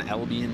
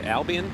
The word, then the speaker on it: Albion: Right around where I grew up there in Albion, New York. Say Albion?